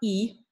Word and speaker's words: y: We have 30 y uno as three separate discrete words there, okay? So 30 y uno, some of you may already know that the letter Y, which we're pronouncing as E there, we're not saying 30 y uno, okay?